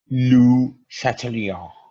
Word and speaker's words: Le Chatelier: to actually pronounce it it's actual pronunciation is I will try to do it as close as possible that is Lu Chatelier or satalia something like